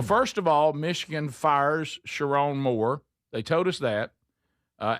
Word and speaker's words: Sherrone Moore: Sherrone Moore? Is that how you say it? Mhm. Yeah. Sherrone Moore shocking dismissal.